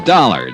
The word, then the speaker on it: Dollar: It's dollar. Dollar. Dollar. Huh? It rhymes with color.